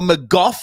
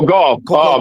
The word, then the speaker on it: Gauff: Coco McGough. How do you say her last name? Goff. Coco Gauff.